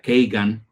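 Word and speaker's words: Kagan: Todo el equipo eh de Vicky Nuland con la familia Keigan, lo estoy pronunciando en inglés, eh, para que no se oiga feo.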